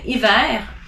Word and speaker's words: hiver: You don't pronounce the H if it's in the beginning of a word.